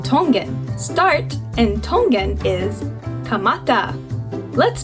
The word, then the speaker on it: kamata: Start in Tongan is kamata. Let's spell that out together. Kamata.